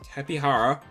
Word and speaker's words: Tapejara: The Jara is Hara. The thing says Tapihara, and I love me a Tapihara.